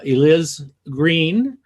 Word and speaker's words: Eliz Greene: first of all i want to welcome uh eliz green uh who uh and you know and i think i pronounced your name right right you did he